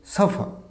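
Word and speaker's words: suffer: উচ্চারণটা কী হবে বলো তো, শেষে আরটা সাইলেন্ট হবে, তাহলে উচ্চারণ হবে সাফার, নট দ্য সাফার।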